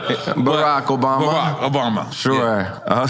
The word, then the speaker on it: Barack Obama: you was to pick Borat and say, yo, I just feel Obama, come back as my vice. I was like, Borat? Yeah, my bad. I fucked up the way I pronounced it. Barack Obama.